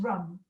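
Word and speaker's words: रं: be repeating the mantra rum so it's our am just like ram but then it's pronounced rum it's not a it's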